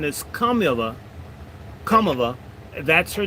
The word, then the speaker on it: Kamala: Now that they're at the same time that they're demanding the Indian pronunciation, they're insisting that we recognize her as a black.